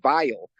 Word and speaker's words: Vili: And then Vili, which we would pronounce vile, which is where I